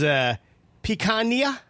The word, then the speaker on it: picanha: Popular food is picanha.